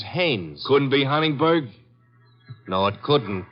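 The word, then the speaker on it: Haines: I what did you say his name is hannes h a i n e s oh oh haes yeah do you know him as your fellow Nam Hines used to fish out no no not Hines hannes couldn't Huntingburg no it couldn't be the name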